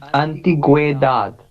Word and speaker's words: antigüedad: These 2 points that is called diéresis, and you don't have to pronounce the vowel U. So it's antiguedad. Is it correct? With that, yes, Antigüedad.